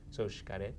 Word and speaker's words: Xcaret: Yeah, the X is a funny in Mayan language. It's a sh as opposed to How do you say it? Xcaret.